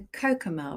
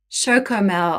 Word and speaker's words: Chocomel: It's like a Cocomel, right? They have this special brand in Holland. Chocomel.